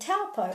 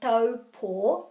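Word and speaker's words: Taupō: Okay, so this together, this AU, is in Te Reo Māori will always be O. Because this is a consistent phonetic language, wherever you see the AU, such as in kauri or whānau, this is always going to be O. Now the reason that it's pronounced O is because it's actually au sped up.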